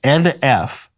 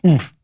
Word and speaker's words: NF: Am I pronouncing that right or is it pronounced oomph? It's NF. Okay. It's not oomph, oomph, oomph.